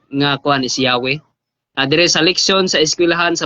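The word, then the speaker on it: Yahweh: ilang libro bro while inclining to view the pronunciation yahwe as more correct way ang yawe daw Mas correct daw ang ang pronunciation.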